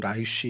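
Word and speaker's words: ליש: 그래서 라이스 성경에 이제 라이스라고 되어 있는데 뭐 히브리 발음으로는 라이쉬 이렇게 되는데 이게 사자란 뜻을 갖고 있고 그다음에 개역 개정 저희가 지금 쓰는 개역 개정엔 레셈이라고 이제 등장을 합니다.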